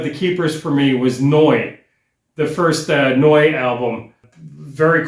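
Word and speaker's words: Neu!: And I know to pronounce that Noi, which translates as new again because 3 years of high school German.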